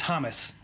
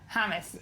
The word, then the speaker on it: Hamas: was Ben Carson and how he pronounces Hamas. I don't know if we heard that. It's Hamas. Hummus.